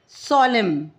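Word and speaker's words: solemn: Okay now इन the words given below the letter N इज़ साइलेंट when it अपी अपीयरर्स with M एट द एंड ऑफ़ the world. और यहां पर letter N साइलेंट है। जब ये एम के बाद आता है तो ये साइलेंट हो जाता है।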